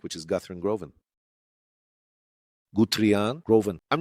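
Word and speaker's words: Guthrie Govan: And there's a guitarist I really like, which is Guthrie Groven. Guthrie Groven. I'm not sure if that's exactly how you say it. Oracle. It's Guthrie Groven.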